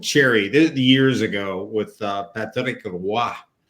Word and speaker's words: Roy: Well, you remember the classic one with Cherry years ago with Patrick Roy. Don McLean pronounces it like that, the full French pronunciation, and Cherry looks at him and says, "Who?